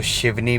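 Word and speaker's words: सिवनी: अब मैं जो बेसिकली सिटी में रह रहा हूँ दैट इज़ सियोनी, बट कुछ लोग इसको शिवनी भी प्रोनाउंस करते हैं।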